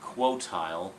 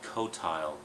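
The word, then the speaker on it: Qotile: noticed when I did the recording I kept mispronouncing it quoti it's actually cotile although interestingly enough for the past 20 years or so I always pronounced it as CTI so quti cotile cotile whatever it's the bad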